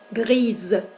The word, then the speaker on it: grise: Grise. Y no pronunciamos la E. Recuerden que una E en posición final no debe ser pronunciada.